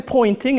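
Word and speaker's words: Poynting: And I want you to note a pointing is spelled weird. It sounds like a pointing as if if I'm pointing and it's um confusing because a pointing vector it points in the direction of propagation direction, but it's spelled with a Y.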